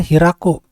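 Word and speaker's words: 開く: Nah, ini namanya hiraku.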